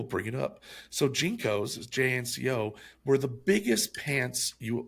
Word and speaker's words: JNCO: Yes, JNCO. It's like Jean Company. JNCO.